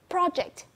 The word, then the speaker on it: project: Or you can pay attention to project, as I have commented for Nhật Anh. Project, first words, first stressed syllable.